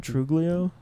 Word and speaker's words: Truglio: Truglio.